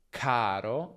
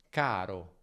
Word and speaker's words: caro: In italiano però non c'è aspirazione, quindi non diciamo caro, ma caro.